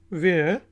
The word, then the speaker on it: where: वेयर, WHERE, वेयर, और इसमें H silent है, वेयर कहाँ को कहते हैं, कहाँ, वेयर।